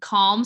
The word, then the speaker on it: Khalm: natural skin care line it's called calm skin skin care it's spelled k-h-a-l-m so it's a combination of her last name and the state of being calm uh like in 2020